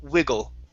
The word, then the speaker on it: wiggle: Okay, next up is a short I sound. Instead of wiggle, it's wiggle. Wiggle.